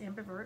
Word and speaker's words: ambivert: Well, like because you're an ambivert. Is that how you say it? Yes, ambivert.